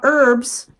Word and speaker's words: herb: where I'm talking about herbs yes Herb is spelled with an H however here in the states the H is silent and the reason why